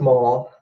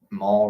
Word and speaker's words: Maul: it just regardless although Maul rhymes with Paul so dark poles hey